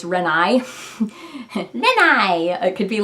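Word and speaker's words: 恋愛: Yeah, and when you're singing renai, typically an is counted as its own note, as its own syllable, so it'd be like renai. It would be sort of like 4-syllable word.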